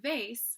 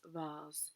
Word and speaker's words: vase: So the word vase, something that flowers are kept in, can also be pronounced vase, which is a sort of more arrogant, elite, and aloof way to say it, right?